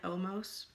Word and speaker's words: Omos: He's called the Giant Omos. Omo. The Giant Omo. S is silent.